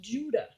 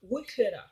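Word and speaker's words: Ouidah: And so this Quida is pronounced Judah, not Wikida, I was thinking it was Quida, but it's Judah. That's the pronunciation.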